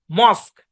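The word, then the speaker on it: mosque: শব্দের শেষে কিউ ইউ ই একসাথে থাকবে এবং ইউ ই সাইলেন্ট থাকবে। আচ্ছা, খেয়াল করেন। ইউনিক, এটা silent. Check, U E silent. মস্ক, ইউ E silent.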